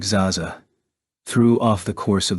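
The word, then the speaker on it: XaXa: good on his promise his name was exaa a short little word that tumbled out of of my mouth pronounced like Zaza threw off the course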